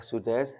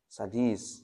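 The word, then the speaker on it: السديس: Jangan dibaca Abu asid Syekh Sudais Jangan dibaca Syekh sadis beda ya Syekh satis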